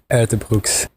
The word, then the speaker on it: Uijtdebroeks: of journalists and fans here is the pronunciation of my name Keon ER Brooks hopefully this helps a